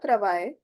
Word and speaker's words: travail: This is I sound. I. Simply the sound is English ka I. So le travail is the work.